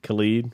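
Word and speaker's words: Khaled: his name Khalid Khalid Khalid rhymes with salad she had had a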